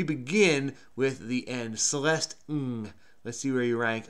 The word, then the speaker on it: Ng: Celeste Ng, born 1980, American writer and novelist.